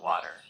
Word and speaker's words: water: For water, it sounded great, but just keep the T a bit softer, like water.